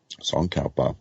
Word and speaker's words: Tsongkhapa: dial Amoz translator actually tsongkhapa I believe is how you pronounce his name Rinpoche is popping up